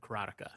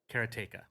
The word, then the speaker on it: Karateka: up to Jordan and Jordan pronounces it and I might get this wrong but he pronounces it karateka chronica is one of